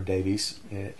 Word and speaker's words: Davies: Ray Davies. Big fan of the Kinks and Ray Davis, or Davies. I think he pronounces it Davis, and everybody else in the world pronounces it Davies, I believe.